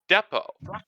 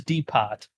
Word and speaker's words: Depot: properly pronounced from deeper i don't care it's depo the word is pronounced remind me of my failures all you